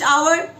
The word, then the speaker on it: hour: You know, honest hour, though it is written with H, it's starting with H, but H is silent, and when we pronounce